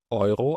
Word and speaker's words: Euro: عشان نعرف الاسعار فاحنا بنقول ايرو او سنت دي العملة اللي في الاتحاد الاوروبي معروفة. الاي لو بعدها يو او اي بعدها او بالالماني بنطق ايرو.